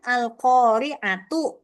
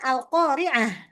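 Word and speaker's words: القارعة: Jadi eh kayak alqoriah tulisannya kan alqoriatu ya. Tapi dibacanya alqoriah. Dibacanya apa? He ha. Ha? Karena apa? Karena waqaf, berhenti. Maka ketika berhenti dibaca ha, tapi ketika disambung dibacanya tetap. Maka kalau disambung kan alqoriatu mal qoriaah. Ketika disambung tetap dibaca ta tidak menjadi dibaca ha.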